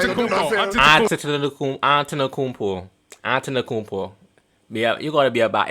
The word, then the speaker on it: Antetokounmpo: Antetokounmpo. Yeah, you gotta be about. If you want to be a basketball fan, you gotta know how to pronounce these names, bro. Antetokounmpo.